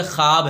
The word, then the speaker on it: خواب: معدولہ بولتے بدلا ہوا، یعنی وہ واو جو لکھنے میں تو آئے لیکن پڑھنے میں نہ آئے. جیسے خواب ہے، جیسے خواہش ہے، اس کا تلفظ جیسے درخواست ہے، جیسے خابیدہ ہے.